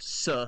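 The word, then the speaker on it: Tse: it's pronounced Suh.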